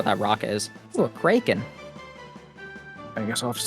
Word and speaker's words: kraken: so In the original Scandinavian, it is actually pronounced kraken, but we aren't original Scandinavians, are we?